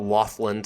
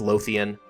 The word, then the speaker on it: Lothian: I did mispronounce this it's not laughland I don't know why I thought laughland it's Lothian had I just read it